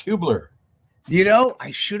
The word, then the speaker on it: Hubler: Tom how are you I'm great but it's pronounced Hubler do you know I should have asked that